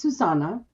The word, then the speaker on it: Susana: really really but i know my name is susana that is the way that you pronounce my name okay but i like everyone